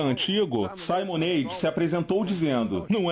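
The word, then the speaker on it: Simonides: Agora, o ponto é: Simonades? Simonades? Certo, estou corrigindo minha pronúncia. É Simonades.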